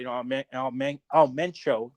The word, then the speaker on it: Mencho: Just talking about Mencho.